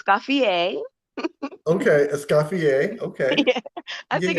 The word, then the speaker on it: Escoffier: Okay, Escoffier.